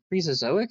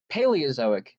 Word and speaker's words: Paleozoic: is what it's called, the Prezozoic. I will look that up. I'm pretty sure that's not how you say it. Oh, that is not what I'm talking about. Paleozoic. The Paleozoic. Okay. That's it.